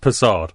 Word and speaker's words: Persad: It's from Trinidad, it's pronounced Persad.